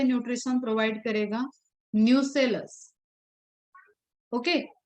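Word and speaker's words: nucellus: Microsporogenesis में nutrition provide कर रहा था टैपेटम, यहाँ पे न्यूट्रिशन प्रोवाइड करेगा न्यूसेलस। ओके, न्यूक्लियस नहीं है, न्यूसेलस है, ध्यान से देखना स्पेलिंग को।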